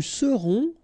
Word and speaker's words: serons: Nous serons, so final S not pronounced, then O-N, on, seront.